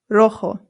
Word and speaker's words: rojo: Our next one is rojo. Rojo. Rojo. Remember that the J makes a H sound. Rojo. Good. Now, if you're wondering why there's an A right here, that's because sometimes rojo is used to describe an object that is feminine.